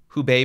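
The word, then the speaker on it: Hubei: called kovat 19 its origin was in the who Bay Province if I'm pronouncing that correctly yeah that's correct in our sir that's the province who Bay and the city is Wuhan and the first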